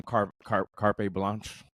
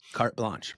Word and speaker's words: carte blanche: That's because that's the brilliance of also like PBS that told Jim that they just gave him carpe blanche. How do you say it? Carte blanche.